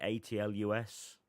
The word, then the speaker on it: Atlus: I'm I'm gonna say I'm saying it right atlus publisher yeah oh okay yeah alas well I say like atas like sh 10 second yeah